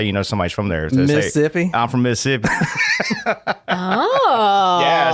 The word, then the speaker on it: Mississippi: Southern actually when you when you pronounce Mississippi you don't pronounce the other set of s's that's how you know somebody's from there Mississippi I'm from Mississippi oh